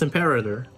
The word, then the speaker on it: Imperator: There's no way that's how you say it. It's Imperator.